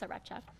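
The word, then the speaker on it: Sriracha: hot sauce or sarach sarach saracha S it's pronounce it's saracha but anyways so there's in front of this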